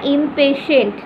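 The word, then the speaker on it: impatient: At this the crocodile goat ইম্পেশেন্ট, উচ্চারণটা ইম্পেশেন্ট, টি এর উচ্চারণ হবে না, ফার্স্ট টিটার।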